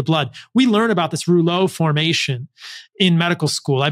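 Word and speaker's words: rouleaux: viscosity of the blood we learn about this roulet formation in medical school I believe it's spelled r-o-u-l-e-u-x um and and we learned about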